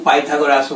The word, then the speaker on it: Pythagoras: পিথাগোরাসের উপপাদ্য কেউ পাইথাগোরাসও বলে, ইংরেজি উচ্চারণে তাই হওয়া উচিত।